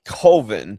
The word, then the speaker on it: Coven: So, It's pronounced Coven, but Coven, no.